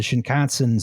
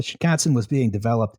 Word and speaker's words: Shinkansen: But the first real dedicated high-speed train, the real thing was the Shinkansen Zero Series, 1964. Rhymes with Wisconsin.